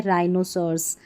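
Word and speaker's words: rhinoceros: ये हमारी स्पेलिंग है राइनोसर्स। राइनोसर्स। देखिए यहां पर उच्चारण लिखा है तो उच्चारण पढ़ के आप प्रैक्टिस करें और यहां पर जो है एच हमारा नहीं पढ़ा जा रहा है।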